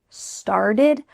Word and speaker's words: started: The T's changing to a D, and that final ED ending is going to sound like id. Started, lasted.